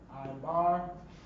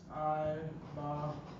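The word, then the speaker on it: עבר: know and that is I bar that's how you would pronounce that I bar and that's I bar iar iar iar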